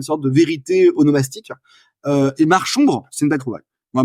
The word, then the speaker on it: Marchombre: Et Marchombre, c'est une belle trouvaille. Moi, Marchombre, j'aime bien. On voit, d'ailleurs, on sait qu'on doit prononcer Marchombre et pas Marcombre parce que on imagine la marche et l'ombre.